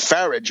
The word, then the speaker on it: Farage: The story is that Cameron was so afraid of the UK Independence Party with Farage, rhymes with garbage, that he let the